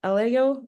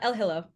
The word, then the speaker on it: Elhillo: then we have uh sfia ELO sorry did I pronounced that right sorry uh elhillo elhillo oh thank you um sudin by